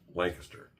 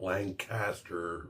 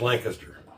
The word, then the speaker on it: Lancaster: That's how you say it. If you're a Pennsylvanian, it's Lancaster, not Lancaster or all the other ways I've heard it said. It's Lancaster.